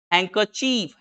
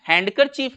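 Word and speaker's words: handkerchief: हैंकरचीफ, हैंडकरचीफ नहीं है, हैंकरचीफ।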